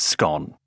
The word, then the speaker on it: scone: The second biggest is the pronunciation of the word scone. It rhymes with gone.